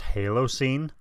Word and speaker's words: Halocene: sure like 99 sure that's pronounced Halo scene and if it is